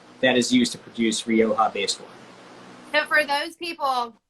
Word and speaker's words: Rioja: is a row it's i'm not going to pronounce it right yeah so this is rioja so rioja rioja rioja is a region in